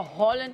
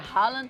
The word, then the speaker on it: Haaland: gente falava Holland, agora é Haaland.